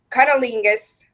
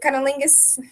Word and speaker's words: cunnilingus: done very easily by cunnilingus is how you pronounce it cunnilingus that's such a weird